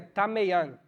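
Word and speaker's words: ταμεῖον: A palavra quarto, usada nesse versículo, em grego é tameian. Pronúncia do pai. É louco. Tameian. Se escreve tameion.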